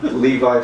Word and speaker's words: Lev: Is that like Pronunciation Levi and- Strauss and- also? Huh? Levi Strauss?